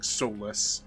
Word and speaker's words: Solus: I'm gonna have to talk to Solus more. I mean, Solace? They pronounce it in a way that it sounds a lot like It's just saying, they're just saying soulless.